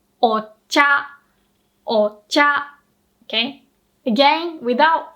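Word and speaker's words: お茶: Whenever we add this o, the prefix, in front of a word, you always pronounce the o with a low pitch. So that means you start low and the second mora has to be pronounced with a high pitch. Remember, it has to be different. So low, high, and the rest can be different, right?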